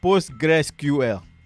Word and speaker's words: PostgreSQL: fourth one is mysql yeah that's how it's pronounced mysql like the other guy the fifth one is postgresql postgres postgres postgresql that's how you say it i think this